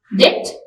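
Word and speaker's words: debt: जिसमें H silent है डेट B silent to W silent land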